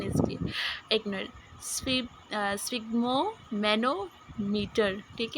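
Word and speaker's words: sphygmomanometer: तो स्पिग्मो मैनोमीटर तो प्रोनाउंसिएशन इसकी, एक मिनट, स्पिग्मो मैनोमीटर।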